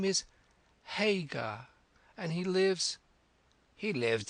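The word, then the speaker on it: Haigha: His names His name is Hagar. He pronounced it so as to rhyme with mayor.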